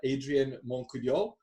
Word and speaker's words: Adrien Montcoudiol: Today I'm joined with Adrien Montcoudiol. I think I pronounced it pretty well.